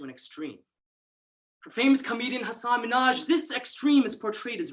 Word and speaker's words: Hasan Minhaj: it as yes Surya my name is Hasan Minhaj and you know I would get hunson Manoj ah no no no no Hasan Minhaj so Heineman huh no no Hasan Minhaj Saddam Hussein and it